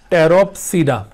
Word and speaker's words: Pteropsida: इसमें P silent होगा, टेरोप्सीडा। तो ये चौथी सब डिवीजन है, यानी ट्रैक्योफाइटा को 4 सब डिविजन्स में डिवाइड किया है।